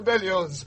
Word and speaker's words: Berlioz: Hector Berlioz, Miss Smithson. Oz. The Z is pronounced.